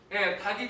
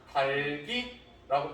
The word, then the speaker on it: 닭이: 그런데 이때 닭이라고 발음하면 된다 안 된다? 당연히 안 되니까 얘기하겠죠? 얘는 안 돼요. 나중에 배우겠지만 뭐라고 발음해야 된다? 달기라고 발음해야 돼.